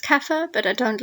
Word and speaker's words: kaffir: Bantu language-speaking peoples that my apologies is actually pronounced kaffir but I don't like the term and that's